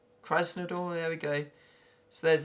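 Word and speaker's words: Krasnodar: just caressing the door Kresna door I believe is how you pronounce it Christ no door there we go so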